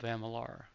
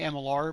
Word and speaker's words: Amalur: of of Emer it's I still say amalar because that's how it's pronounced I think he thei